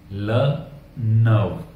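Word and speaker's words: le neveu: The Neiphiu, the Neiphiu को French में कहते हैं ल नव, ल नव। द नीस, द नीस को फ्रेंच में कहते हैं ला नियस, स्पेलिंग सेम है, बस ई के ऊपर में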